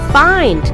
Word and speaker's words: find: The sound of short vowel I is E. But these words are pronounced as find, kind, blind and mind.